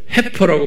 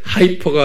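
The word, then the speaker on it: heifer: 영어로는 이렇게 해퍼라고 그랬어요 해퍼라고 발음을 하는데 하이퍼가 아니고요 헤파라는게 뭐냐면 송아지인데 새끼를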